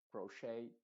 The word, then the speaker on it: crochet: Pero lo más importante acá es que la ET en estas palabras que vienen del francés se están pronunciando con la letra original A, que sería A, ballet. O sea, olvídate en estas palabras exclusivamente, olvídate de la ET y ponle una A.